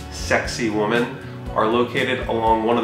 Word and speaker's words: Sacsayhuaman: The Inca ruins of Sacsayhuaman, which are kind of loosely pronounced sexy woman, are located along one of the hilltops that surround Cusco.